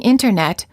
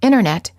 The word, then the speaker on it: internet: sound is often silent instead of saying internet you will frequently hear americans say internet this is fairly standard